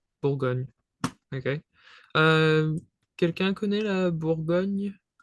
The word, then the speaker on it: Bourgogne: So it's almost an N. But if you would to kind of image it, image the pronunciation, so it's like a new. For example, here it's Bourgogne. Bourgogne.